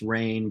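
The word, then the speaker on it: Rein: vowel like ARA uh however you want to slice it it's pronounced rain but people will pronounce it or Worse rains that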